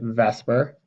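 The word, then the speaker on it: VSEPR: real fancy term we we pronounce it Vesper and it stands for valence shell electron pair repulsion I actually had to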